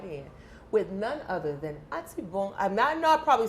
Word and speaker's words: Atibon: Generally, people say, the Anglos, they will go Atibon. No, it's Atibon. Atibon. What is it? The N is silent? It's a silent N, yeah.